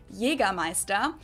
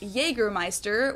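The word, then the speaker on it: Jägermeister: yiga MAA in German Jaga Meister English speakers usually say Jagermeister which is pretty much the same just with a pretty thick accent and people also often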